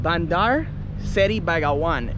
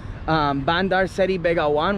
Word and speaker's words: Bandar Seri Begawan: And I was a bit confused on how to pronounce it, but I think I said it pretty good. Bandar Seri Begawan.